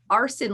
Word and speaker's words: Aarsen: spelled very oddly and I just say like arson like people who set fires for fun you know like yeah